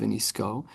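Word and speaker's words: ונסכה: And we also don't double the oil because of the unique Greek ksiv of v'niska, what it looks like v'niska, that's the ksiv, but it's pronounced v'nisko.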